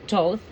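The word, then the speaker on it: Thoth: Th pronounced as Toth, also known as the Tihuti, is the ancient Egyptian ibis-headed god of Ryden, divine magic, and the moon.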